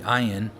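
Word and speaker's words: עין: So even the Hebrew letter itself, the name of it, forces you to say ayin. I can't say it without saying ah.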